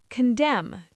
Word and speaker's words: condemn: Condemn. To judge harshly. Solemn. S O L E M N. Solemn. Very serious. See the pattern? MN at the end. N is silent.